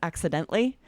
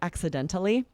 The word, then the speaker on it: accidentally: One that I thought of as I was preparing is accidentally. And some people will say accidentally. Both are correct, right?